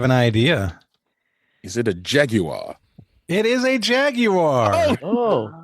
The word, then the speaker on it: Jaguar: me a commercial with Jaguar, so I said Jaguar, and she's like, "Don't say it like that. Say Jaguar." I'm like, why? It's Jaguar. Like it's Jaguar. That's how they say Jaguar.